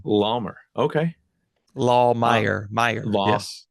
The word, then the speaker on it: Lahmeyer: It's a good German last name. Lawmer. Okay. Uh, Lahmeyer. Meyer. Law Yes. Lawmeyer.